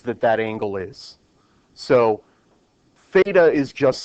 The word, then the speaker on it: theta: It is pronounced, it's spelled t h e ta, but it is pronounced theta.